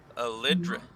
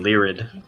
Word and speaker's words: Lyrid: Am I saying the name wrong? Lidrid? That definitely sounds wrong. It sounds like Lyrid. Lyrid. Yeah, Lyrid. Yeah, okay. Oh, I'm with you. Lidrid sounds like the D and the R is switched.